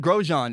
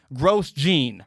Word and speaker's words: Grosjean: to to be clear roman grosjean is the name some people say romaine gross gene right i don't say that i don't say charles leclerc i say charlotte leclaire because i know how to say his name i'm doing